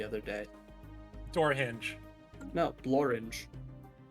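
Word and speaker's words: Blorenge: you know I found something that rhymes with orange the other day door hinge no blor it's a real thing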